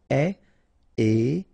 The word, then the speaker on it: épais: Épais, final S not pronounced, A-E together, épais, épais. Calme, final E, not here.